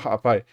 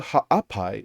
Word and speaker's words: Ha'apai: just so painful because no one can say Ha'apai, even though it's so like if you know how to say it, it's not really hard for an English speaker to say Ha'apai.